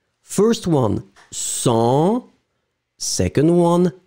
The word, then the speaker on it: cent: This one, Q, final Q is pronounced, so cinq. First one, cent, second one, cinq.